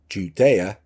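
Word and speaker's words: Gudea: Thoth helps its king Judea, spelt with a G, G-U-D-E-A, all in the word, you see, build a ziggurat temple for Ninurta.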